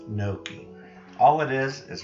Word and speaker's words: gnocchi: have you ever had gnocchi that's how it's pronounced gnocchi all it is is right here they're little